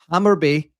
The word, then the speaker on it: Hammarby: Hammer, I always struggle to say their name. Hammarby, I think is the right way to say it, but I could be wrong.